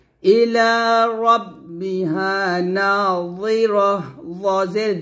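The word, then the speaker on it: رَبِّهَا: হবে আবার তারপর রাব্বি বলবেন না মোটা করে মোটা হবে ইলা রব্বিহা নাহ জের জি হবে না জি বললে কিন্তু জালের উচ্চারণ হয়ে যাবে বলতে হবে এভাবে আর মোটা করবেন এভাবে ইলা রব্বিহা নাহ নাহ আবার বলেন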